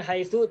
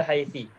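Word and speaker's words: حيث: Tetap dibacanya haitsu, tidak dibaca haitsi.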